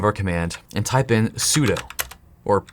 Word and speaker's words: sudo: command and type in sudo or it's also often pronounced soo do but it's spelt sudo so i want to